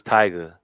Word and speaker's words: Tyga: It was Tyga, and she said it Tigger. I said there's only one Tigger.